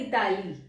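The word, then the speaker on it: Italie: आपको बताया था कि इटली तितली नहीं होता क्योंकि जब स्टार्टिंग में मैंने फ्रेंस लर्निंग स्टार्ट करी थी तो मैं इसको ऐसे लर्न करती थी ताकि मुझे लर्न हो जाए इसकी स्पेलिंग इटली जैसी है तितली जैसी है इटली बट य होता है इताली क्या होता है य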